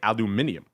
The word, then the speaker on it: aluminium: talk about very often aluminum or as your Brits say aluminium 1994 is where that